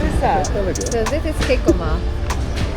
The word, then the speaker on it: jicama: So, this is jicama. Jicama? Jicama.